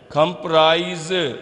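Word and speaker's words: comprise: तो इम्प्रेसिव मुतासिर कौन, मॉन्यूमेंट्स यादगारें, एम्बेलिश सजाना, एम्पायर सल्तनत, अट्रैक्शन कशिश, कंस्ट्रक्ट तामीर करना, कंप्राइज ये एस जो है जेड की आवाज़ दे रहा है यहाँ पे, कंप्राइज मुश्तमिल होना, टॉम ये जो बी है ये साइलेंट है।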